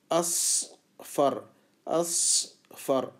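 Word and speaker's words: أصفر: اصفر اصفر سین نہیں ہے بلکہ صاد ہے. صاد اور سین کے اندر کوئی فرق نہیں کرتے ہم اردو میں، لیکن عربی میں فرق ہوتا ہے اس کے تلفظ میں،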